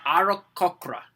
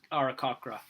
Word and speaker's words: Aarakocra: It is called the Aarakocra. That's how I pronounce it.